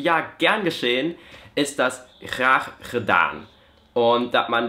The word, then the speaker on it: graag: Also das niederländische Wort für gut, das wird so geschrieben und ausgesprochen ist es dann graag. Und da hat man diesen Scheißlaut schon zweimal drin und dann kommt meistens